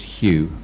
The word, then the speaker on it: Hugh: hugh or dr hugh it is written with a g which in in english is pronounced but when you say it you do not say the ge so just hue okay thank you uh